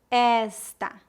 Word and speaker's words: esta: Primeira dica: os pronomes femininos são pronunciados com E aberto e os pronomes masculinos com E fechado. Por exemplo, ele, pronúncia fechada. Ela, pronúncia aberta. Este, esta, esse, essa, aquele, aquela.